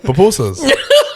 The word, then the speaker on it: pupusa: Papooseas.